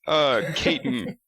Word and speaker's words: Katon: well, that's the fourth pronunciation I've heard in the 10 minutes. It's Katon.